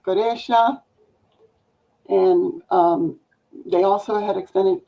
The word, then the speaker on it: Quraysh: It's pronounced Goresha, and they also had extended to the Levant.